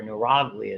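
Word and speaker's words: neuroglia: So they're neuroga or neurogia is how it's pronounced and that's really when you talk about hisytologology that's looking at the tissue level.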